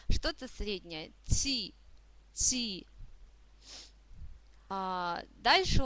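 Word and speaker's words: ち: Следующий слог «ти». Это нечто среднее между «ч» и «т». Да? Не похож слог по произношению ни на «ч», ни на «т». Что-то среднее. «Ти», «ти».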